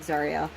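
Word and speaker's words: Tsaril: I also invented a name, Zariel, but like T-S-A-R-I-L, but like pronounced like Zariel.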